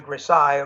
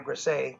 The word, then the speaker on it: grisaille: That underpainting style is called the grisaille or grisaille. Everybody pronounces it differently. I believe it's French, and it basically stands or means gray.